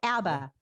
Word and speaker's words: ABBA: the touch there are some new auba songs i'm sorry abba it's abba isn't it i've been saying it wrong my entire life there are no abba